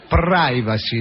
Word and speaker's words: privacy: No, guarda che si dice privacy. La i si pronuncia a Ah, davvero? Sì, si pronuncia ai la I.